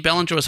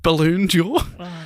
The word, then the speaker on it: Ballon d'Or: a trivia question writer, instead of writing Ballanjois, as it's because it's spelled Ballon in the answers, I wrote Balloon Jaw, and a few of the trivia hosts ribbed me for that one.